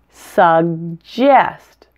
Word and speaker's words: suggest: word suggest is different you actually pronounced both G's separately and they each have a very different sound the first G is